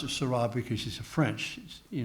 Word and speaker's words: Sarah: and I pronounce it Sarah because she's a French you know and French always accents a lot of silver Carlos Ryan also it rhymes with hurray uh but he he's